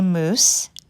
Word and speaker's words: moose: the difference between a moose and a moose mo OSE and Mo you sse both words are pronounced the same way but boy do they